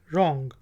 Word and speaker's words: wrong: इसके बाद वोट है इसको बहुत किलोग्राम प्रोनाउंस करते हैं और यह डब्ल्यू आर ओ एन जी लॉन्ग व रोंग नहीं है रॉन्ग गलत लोंग ओं कि